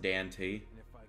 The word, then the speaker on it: Dante: It's actually pronounced Dante.